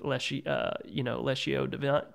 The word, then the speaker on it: Lectio Divina: Yesterday morning, beginning lighting a candle, starting with Lectio Divina. How do you say it? Lectio Divina? Well, people say it different ways.